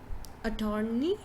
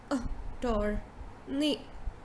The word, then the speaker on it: attorney: so a lot of people will pronounce it like attorney yeah but it is a door knee a door knee so you see instead of saying attorney you say oh tourney yeah now the next